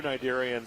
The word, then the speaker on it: cnidarians: Cnidarians is spelled with a C. C-N-I-D-A-R-I-A-N-S.